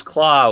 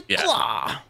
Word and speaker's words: Klaue: arm, he had the claw. Yeah. So Ulysses Claw is spelled Klaue, and then he's also called Claw, Klaw, in the comics.